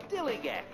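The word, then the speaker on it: DILLIGAF: And I can relate to their attitude too, in a word, dillygaff. That's spelled D-I-L-L-I-G-A-F, dillygaff.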